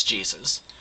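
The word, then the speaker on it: Jesús: there's a cook named Jesu right spelled the same as Jesus but Jesu who's the only cook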